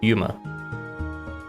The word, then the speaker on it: UMA: Rooting it as an acronym, it can be pronounced as Yuma.